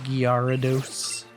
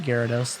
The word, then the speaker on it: Gyarados: calm waters excuse me mr gyarados mr giarados as it's spelled most people just pronounce it gyarados though balomir lake okay you you oh you